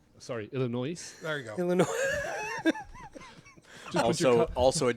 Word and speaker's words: Illinois: We've got Corning, New York, Downingtown, Tornadoes from Illinois. My kind of town. Oh, you wait. You didn't say it right. Sorry, Illinois. There you go. Illinois.